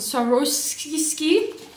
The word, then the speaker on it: Swarovski: How do you pronounce it? Swarovski.